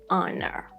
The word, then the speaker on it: honor: Then H at the start, like in air, our, honor.